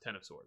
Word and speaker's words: X of Swords: hickman yeah uh and two hickman said it's pronounced ten of swords yeah there you go and you know he's